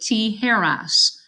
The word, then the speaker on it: tijeras: Remember, T, hair, and then all of us, pronounced us, and you get tijeras.